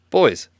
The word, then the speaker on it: Bois: No idea how to pronounce that name. Bois? Oh, there it is. Boys.